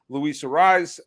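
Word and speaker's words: Luis Arraez: And you're getting good a season out of Luis Ariz, and that's how you pronounce his name, right?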